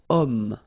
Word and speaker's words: homme: Remember, H is not pronounced, okay? So you've got the sound of O at the beginning of this word, okay?